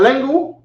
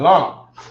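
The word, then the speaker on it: langue: and in French and how do you say it properly in French it's not lingu or no yes hold on oh we got long mind you King James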